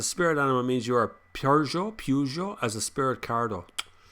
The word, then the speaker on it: Peugeot: is the french version if you actually listen to french people say the word it's like peugeot peugeot you know it's both so they even they go both so no one knows how to pronounce it really even i've even met